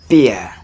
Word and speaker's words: beer: The second one is beer. Beer. So not beer or beer or beer, but beer. Beer. This has another tip tone. Ear. It's the same pronunciation as your ear.